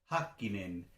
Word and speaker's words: Häkkinen: 1 que era Mika Häkkinen? Es Häkkinen, no es Häkkinen, como diríamos en español, es Häkkinen. O Raikkonen, no es Raikkonen. Eso, la primera sílaba, eso es importante tenerla en cuenta.